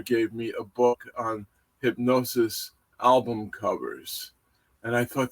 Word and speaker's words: Hipgnosis: uh franchise from from London England and that's hypnosis and hypnosis is spelled hip g-n-o-s-i-s and they began in London